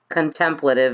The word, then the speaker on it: contemplative: Contemplative is the right way to pronounce.